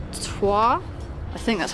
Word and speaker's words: Troyes: at a place called twah I think that's how you pronounce it it's spelled very different to how it sounds but we just it